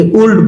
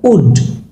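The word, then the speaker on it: would: Will, অনেকে এটাকে উল্ড বলে, নো, উড, উড।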